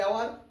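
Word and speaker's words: hour: কি আওয়ার? অ্যান আওয়ার। কেন না? এইচটা উচ্চারিত হয় না, উচ্চারিত না হয় মানে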